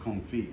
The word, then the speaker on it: confit: talked about corn feet c-o-n-f-i-t but it's pronounced comfy okay so anyway confit